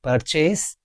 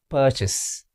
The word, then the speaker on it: purchase: It's purchase. It's incorrect. Purchase. Purchase. It's having two syllables. Purchase. The stress is on the first syllable.